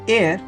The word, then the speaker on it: are: written as 1 air so a r e it's a unit of area which is pronounced as air and we can Define